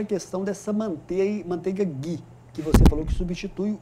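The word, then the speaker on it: ghee: E a manteiga Gui, né? O o GUI escreve GH e E, é assim que se escreve manteiga Gui, ou também conhecida como manteiga clarificada.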